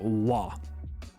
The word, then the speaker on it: は: our first particle again this is the character ha in Katakana but when we're using it as a particle the pronunciation is now la and the thing that